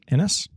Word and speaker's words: Inis: Inis rhymes with Guinness.